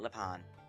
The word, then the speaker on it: Lepanne: of lean and yes that is how the game pronounce it before any French or whatever people get on my case they call it Leon the auction will be